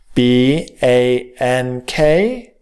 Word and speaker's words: bank: this word bang bang when the word ends with a K we are adding the k sound to bang b a n k we say bang Bank when you see words